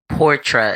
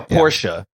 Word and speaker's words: Portra: Portra. Is that how you say it? Yeah, Portra. Is it Portra or Portia?